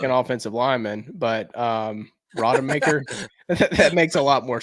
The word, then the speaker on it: Rodemaker: Hey, real quick, is that how we pronounce his name? Is that right? Rodemaker, yeah. It's not Roadmaker?